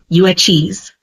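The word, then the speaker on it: Yuezhi: of a bigger tribe called the uchis pronounced uis the uis originally lived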